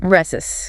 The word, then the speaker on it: receipt: Res but with a silent pen. Reus.